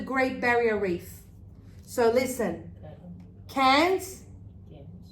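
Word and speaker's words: Cairns: So listen, cans, cans, cans, cans. Oh wow, same pronunciation. Different writing. Because it's a different combination of letters. Yes? So same pronunciation, but different writing.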